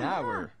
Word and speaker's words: hour: What will happen if a sentence begins with a silent H? Good question. In that case, we use the article an. For example, an hour.